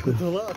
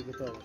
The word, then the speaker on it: Каталах: Каталах, а не Каталах.